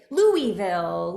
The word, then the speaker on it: Louisville: We share a bit in common from the same hometown of Louisville, KY. That's right. Yes, we do. And the two of us know how to pronounce it, Louisville.